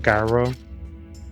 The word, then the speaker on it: Garo: sound, and it's pronounced Garo.